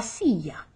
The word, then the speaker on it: silla: cognate el say mestre remember the double l is like a yeah just like sia la silla homework oh we know